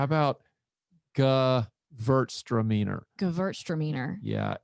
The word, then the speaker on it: Gewürztraminer: How about Gewürztraminer? Gewürztraminer. Yeah, it's a funky one. German pronunciation, Gewürztraminer.